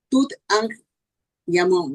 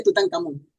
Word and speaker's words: Tutankamón: y Tutankamón, decía, pues él decía que Tutankamón, la pronunciación es Tut-An-Yamón, ¿no? En realidad, pero se dice Tutankamón.